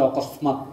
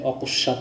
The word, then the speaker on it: অকস্মাৎ: হ্যাঁ, যেমন এই অকস্মাৎ বানানটাকে অনেকেই আবার উচ্চারণ করে অকস্মাৎ, এই ধরনের উচ্চারণ করে থাকে। তো কাজেই উচ্চারণের সঙ্গে সঙ্গে বানানটাও দেখে নিবে, অকস্মাৎ।